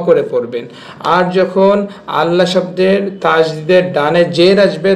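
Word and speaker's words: الله: আর যখন আল্লাহ শব্দের তাজদিদের ডানে জের আসবে তখন আল্লাহ শব্দের লামকে লা করে পড়বেন। জাস্ট এতটুকু নিয়ম মনে রাখতে পারলে আপনি আল্লাহ শব্দটি শুদ্ধভাবে উচ্চারণ করতে পারবেন।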